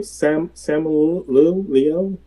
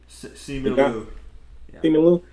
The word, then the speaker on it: Simu Liu: How you pronounce his name? Simu Liu. Simu Liu.